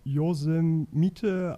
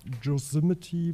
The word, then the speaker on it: Yosemite: soll und wir hatten gerätselt und sind von josef mitte auf yosemite bis sind mussten mitte gekommen was wohl letztendlich auch die korrekte aussprache sein soll also ich bin immer für